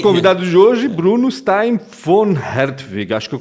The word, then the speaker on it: von Hertwig: Nosso convidado de hoje, Bruno Stein von Hertwig. Acho que eu pronunciei certo, né? Porque o V em alemão tem som de F, até onde eu sei, né?